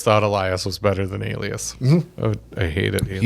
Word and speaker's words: Alias: Elias. Alias is really HOW IT'S PRONOUNCED.